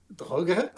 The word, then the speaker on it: Draugr: And since you mentioned the More and the Draugr, Droge. I try to pronounce it as German as possible.